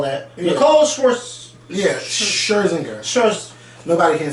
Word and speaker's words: Scherzinger: It's not Schwarzenegger. No, Scherzinger. But a lot of people can't say her name, so she should have just been by a different name.